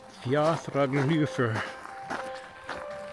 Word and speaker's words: Fjaðrárgljúfur: Fjaðrárgljúfur. Good grief. So, if the parking app has the hyphenation in the correct place, the GLJ is all one pronunciation.